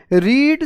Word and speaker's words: read: तो आप कहेंगे रीड 60 कॉन्स्टिट्यूशंस या 60 कंट्रीज कॉन्स्टिट्यूशंस। ठीक है, आप कहेंगे, इसको रेड कहते हैं ना, READ, लेकिन स्पेलिंग एक ही रहती है।